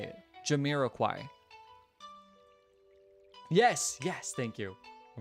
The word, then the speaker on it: Jamiroquai: How do you pronounce... Jamiroquai. No. Oh, Jamiroquai. Jamiroquai. Sorry, Jamiroquai. That's how you say it. Jamiroquai.